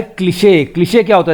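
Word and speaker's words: cliché: ये ई के ऊपर जो लगा हुआ है ये है एक स्पेशल मार्क और इससे डिनोट हो रहा है कि हमको इस ई को पूरा प्रोनाउंस करना है, इसे बोलेंगे क्लिशे.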